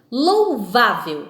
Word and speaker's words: louvável: colocar um exemplo aí louvável é louvável não percebemos aí que a sílaba forte que é a sílaba tônica apresenta então na palavra vá não é louvável percebemos aí então a palavra vá é a palavra a sílaba tônica da palavra louvável tá certo e como